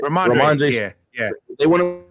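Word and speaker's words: Rhamondre: Ramondre.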